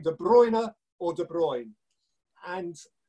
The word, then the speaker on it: De Bruyne: League archive in which the commentator says de Bruyne because it turns out that de boigne was just some regional pronunciation and that the rest of Belgium was calling in zabrina and so neither was wrong 9 it was right